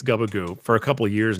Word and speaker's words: Gubagoo: gear uh guba squads uh so yes it's goobagoo is the correct pronunciation we're very we're very accepting of alternative